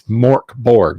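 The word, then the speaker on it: Mörk Borg: Smith or or you know it's yeah it's pronounced Jesus Jones you know no it's it's Mork Borg okay that's all all that I can do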